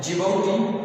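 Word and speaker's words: Djibouti: और अगर next alphabet D और इससे जो कंट्री नेम जिबौटी, इसमें जो डी है वो साइलेंट है, डी साइलेंट है जिबौटी।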